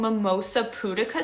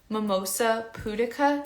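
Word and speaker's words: Mimosa pudica: get organic mimosa poodicacy it's like mimosa like what you drink in the morning and pudica is spelled p-u-d-i-c-a mimosa putika seed and it's amazing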